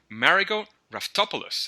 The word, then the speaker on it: Marigo Raftopoulos: engaging Learning Materials wow so today we have marot topis and I hoped I I got that last